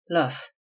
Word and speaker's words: Loof: Loof, usually pronounced and spelled luff, which see.